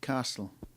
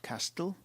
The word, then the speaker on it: castle: king in a big castle castle not Castille it's a silent T that sword a sharp